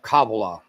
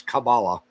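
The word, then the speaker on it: Kabbalah: very simple version of of Cababala, that's how you say it in Hebrew. In English, it's Cabala.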